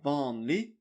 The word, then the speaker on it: vanlig: Vanlig. And you don't say the G. Vanlig.